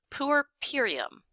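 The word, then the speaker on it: puerperium: say it but now we have the official pronunciation which is purum pum Pur purum it's kind of a horrible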